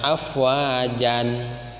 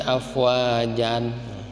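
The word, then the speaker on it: أفواجا: Jangan dibaca afwajan. Nah, jangan begitu bacanya. Yadkhuluna fi dinillahi afwajan. Jangan. Tapi diganti menjadi afwaja.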